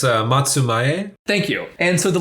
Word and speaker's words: Matsumae: Japanese authority of the Matsume clan. I'm saying that totally wrong, right? How do I say that? I'm so sorry, John. I know you know how to pronounce it. It's Matsumae.